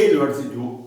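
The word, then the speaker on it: university: এ ইউনিভার্সিটি, ইউ উচ্চারণটা অ না হয়ে ওয়াইয়ের মতো হচ্ছে, ইউনিভার্সিটি, ইউনিফর্ম, ইউনিয়ন, তখন কি এই ব্যবহার হবে।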